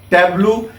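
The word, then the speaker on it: tableau: This is pronounced as टैब्लू।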